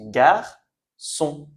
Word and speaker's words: garçon: Devant A, o U, normalement c'est K Q. Sauf que ici, si je mets des CD, ça devient sa su.